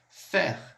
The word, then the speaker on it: fer: Fer, fer, fer significa ferro. A gente vai pronunciar o R.